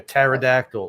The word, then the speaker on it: pterodactyl: It's like one of those funny things about the English language, those silent letters. Like pneumonia, pterodactyl. Like, what the hell were we thinking?